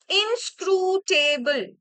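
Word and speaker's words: inscrutable: four antonym of ইন ইনসক্রুটেবল ঠিক আছে এই যে সিলেবলটা আমি ভাগ করে দিলাম this is হাউ you will pronounce ইট ইনসক্রুটেবল দেখো ফাস্ট আমাদের হচ্ছে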